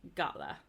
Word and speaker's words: gala: So G before A, O, U, or any consonant is pronounced like the G in rag, so it has a hard G. So like gala.